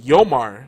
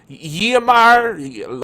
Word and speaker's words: Yomar: My real name is even more phonetically friendly, Yomar, but people try to make it something that is not. Like, Yamar, Lamar, like, where do you see an L in there? What? It's Yo and Mar.